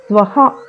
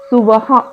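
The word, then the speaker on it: స్వః: అనేది సరైన ఉచ్చారణ అలాగే స్వహ గాని కొంతమంది సువహ అని పలుకుతారు అది కాదు స్వహ అనేది సరైన ఉచ్చారణ ధియోయోనః ప్రచోదయాత్ అని పలికేటప్పుడు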